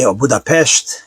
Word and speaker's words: Budapest: My mother was born in Hungary in Budapest and he Budapestt if you want to pronounce it corre correctly.